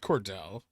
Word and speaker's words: Cordell: It's pronounced Cordell, but I'm going to call him Cordelay.